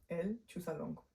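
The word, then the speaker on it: El Chuzalongo: film called, and I keep forgetting how to pronounce it. El Chusalongo. You're right. The one more time? El Chusalongo. So El Chusalongo, right?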